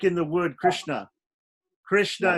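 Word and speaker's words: कृष्ण: Krishna is 2 syllables, kri and shna. But shna is a samyukta varna, and kri is short, is a hrasva. Yeah, Hrasva Krish becomes a heavy syllable.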